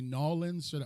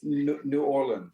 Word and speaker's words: New Orleans: am I saying it wrong I should say nawlins which how should I say New Orleans New Orleans New Orleans okay New Orleans New Orleans let's